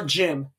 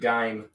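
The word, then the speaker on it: GIF: Or Jim, as some people pronounce it. I pronounce it Gime. Good. You do it right. You follow the same rule as those who say Zed.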